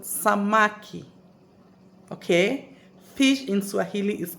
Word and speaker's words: samaki: fish in Swahili fish in Swahili is called samaki okay fish in Swahili is called samaki okay so samaki is pronounced as s for Sam a for apple